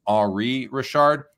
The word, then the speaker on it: Henri Richard: And the Rocket Richard, his brother was Henri Richard, like Henry, but pronounced Henri Richard, known as the Pocket Rocket because he's a little bit smaller than his brother.